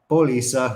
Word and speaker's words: póliza: Apparently I can't say that word. I put the accent on the wrong syllable. Póliza jurídica.